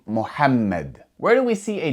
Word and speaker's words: Muhammad: And because there are two m's, you're going to pronounce that m with a bit more strength. You're going to stress that m sound. Muhammad.